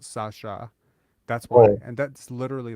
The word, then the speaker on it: Sasa: in my language uh s-a-s-a is pronounced Sasha that's why and that's